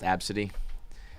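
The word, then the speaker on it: Abcde: It's just ABCD, No. and it's pronounced Absidy. And there was There- there's Nosmo King, and it was it's just no smoking.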